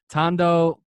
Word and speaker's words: Tondo: taught I'm gonna butcher this name I read Tondo Manila is that hope yes got it right